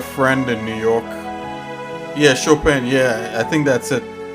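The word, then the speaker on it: Chopin: but look up this guy called sh shopan let me see how you spell that I think it's c h o p i n this piano oh I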